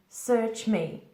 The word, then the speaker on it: search me: Again, pronunciation, search me, search me. Careful with the R, don't roll it, it's search, search.